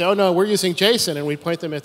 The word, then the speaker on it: JSON: I named it with Jason because it was JavaScript object notation and you could pronounce it like it was somebody's name and Doug runs off